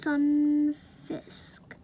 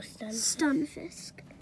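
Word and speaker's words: Stunfisk: that's uh let's just Sun Fisk sorry if I pronounced these wrong but skunk fist oh no stun Fisk okay see this next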